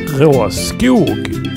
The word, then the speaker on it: Råskog: By the way, the correct Swedish pronunciation of this cart is Råskog and nothing else.